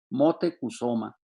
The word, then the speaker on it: Motecuhzoma: moctezuma ilhuicamina y lo produce así como se pronunciaba en los tiempos prehispánicos sino como el moctezuma actuales motecuhzoma viru y camina y que fue el bisabuelo